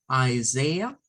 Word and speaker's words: Isaiah: Recordemos que hemos dicho que eso lo vamos a pronunciar como Isaiah 41:10, Isaiah 41:10, que nos dice, don't be afraid, for I am with you.